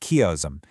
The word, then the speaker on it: chiasm: It's called a chiasm, pronounced chiasm, and it gets its name from the Greek